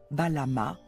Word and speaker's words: Balam: Il pouvait aussi choisir d'écrire le mot phonétiquement en alignant une variété de signes phonétiques signifiant tous Balama, qui se lit Balam.